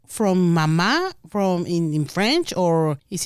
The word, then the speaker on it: Maman: Yes, so it's spelled Maman, Maman. It is the French word pronounced mama.